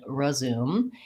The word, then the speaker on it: resume: for many unstressed syllables the most important thing is that those first syllables in both those words are short and reduced and so they have a reduced vowel which can either sound